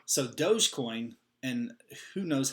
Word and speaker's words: Dogecoin: If I pronounce both of those correctly. Dogecoin. So Dogecoin, and who knows how I said it just a second ago, but Dogecoin.